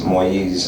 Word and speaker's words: Moïse: It's actually spelled M-O-I-S-E. It's Moïse in French. Moïse.